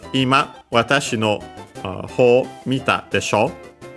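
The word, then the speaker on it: 今: Because, yeah, here she's saying Ima first. We have most certainly the one accent on the first mora, because the one accent on ma means living room, so it doesn't make sense.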